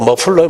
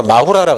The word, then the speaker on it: 머플러: 우리 뒤에 연기통이 영어로 머플러예요, 머플러. 머플러를 일본 애들이 발음 못하니까 마후라라 그랬어요.